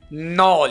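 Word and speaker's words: knoll: Knives नॉल यहां पर के साइलेंट होगा।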